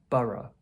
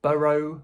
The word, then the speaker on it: borough: Borough. Americans might pronounce it a bit differently, like 'burrow' or something. But generally in the UK, we say borough.